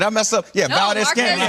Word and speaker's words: Valdez-Scantling: And if they can have wide receivers like Valdez-Scantling, did I say that right? Did I mess up? Yeah, no, Valdez-Scantling.